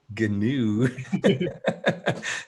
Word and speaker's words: GNU: gnu project or better known as gnu gnu yes that's how you pronounce it it's pronounced who is um